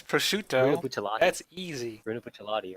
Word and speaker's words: Bruno Bucciarati: It's Bruno Bucciolati.